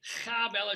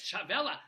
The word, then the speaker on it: Chavela: Broadway show called becoming this is how I pronounce I say Kella she will not know she's shaking her head she no it's no it's Chavela oh she's Costa Rican